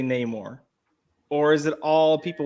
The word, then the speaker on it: Namor: So apparently, according to critics who have screened the movie, everyone calls him Namor.